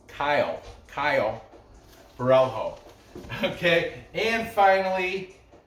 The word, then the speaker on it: Caio Borralho: If you're Italian, his first name Caio. It's spelled, if you were to pronounce it Italy, it'd be Ciao Borralho. I like that. But Brazilian, I guess we're pronounce it how it's phonetically spelled. Caio Borralho.